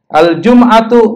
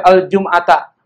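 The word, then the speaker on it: الجمعةُ: Al-jum'atu, boleh nggak dibaca al-jum'ata? Nggak boleh, dia jadi mubtada.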